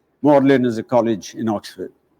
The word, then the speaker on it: Magdalen: not lyster and the third word instead of magdalene is pronounced as mordlin morlin is a college in oxford then we come